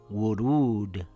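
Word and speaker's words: ورود: When you see the waw like this it makes an u sound in the word pool. So this word will read wuruud.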